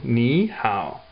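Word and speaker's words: 你好: So together, it goes to second and third. So ni hao. That's how you say hello.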